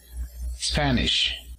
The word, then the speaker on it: Spanish: Y para decir español, Spanish, primera sílaba.